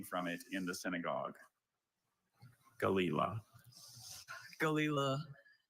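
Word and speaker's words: gelilah: Galila. Galila. G A L E I L A. Galila. I'm sorry. Galila is spelled G E L I L A H.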